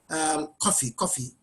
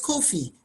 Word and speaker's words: Kofi: I remember many years ago in uni, they used to call me Kofi. And I kept saying it's Kofi, but they said Kofi. They couldn't pronounce it, you know.